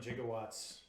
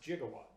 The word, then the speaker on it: gigawatt: moment right give that so it is apparently correctly pronounced gigawatts yes however that was the original pronunciation languages of thing it's a living thing and it is now definitely gigawatt thank you computers Giga is how we've chosen to pronounce that just as no matter